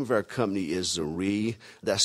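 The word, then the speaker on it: Zrii: our company the name of our company is zere that's spelled z r i i and uh we're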